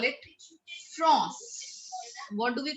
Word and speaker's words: France: But if we pronounce it in French language, we call it France. What do we call it? France.